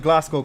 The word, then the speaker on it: Glasgow: I think I said Glasgow. Correct. Right. It's It's the W is silent.